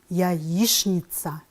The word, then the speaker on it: яичница: Пишем, ребята, «яичница», а произносим «яичница».